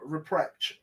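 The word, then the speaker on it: Rupprecht: a good look at Pascal reprecht and that's how he pronounced his name at Q school he was the young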